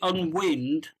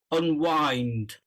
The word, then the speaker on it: unwind: and then you said uh um okay you pronounced it on wind uh which I can understand but it's actually pronounced unwind uh can you say unwind unwind yeah you